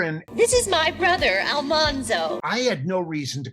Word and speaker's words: Almanzo: doesn't it Dean that everybody was pronouncing Almanzo wrong because they were saying Al monzo Wilder where it's Almanzo Wilder right that was one